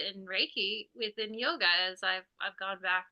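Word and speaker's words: योग: sad and like within yoga you know yoga in India prior to Western influence like yoga is not called Yoga Yoga is pronounced yog yog that's the correct pronunciation of it and in fact the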